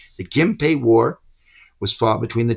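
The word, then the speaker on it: Genpei: that word in it but we pronounce it with an M sound. Right. The Gimpe war was fought between the Tyra and the Minamoto at the end of the 12th century.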